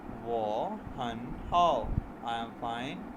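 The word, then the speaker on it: 我很好: इसको प्रोनाउंस करेंगे वो हन हाउ, आई एम फाइन, मैं ठीक हूँ।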